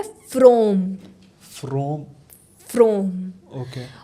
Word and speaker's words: Fraum: तो जो हनुमान जी का मंत्र है वो है फ्रोम। फ्रोम। फ्रोम। ओके और इसकी अगर किसी को स्पेलिंग चाहिए हो तो FRAUM। ओके फ्रोम, इसका उच्चारण ही यही है।